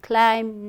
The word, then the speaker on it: climb: i have for you calm climb num so all have be silent right then there was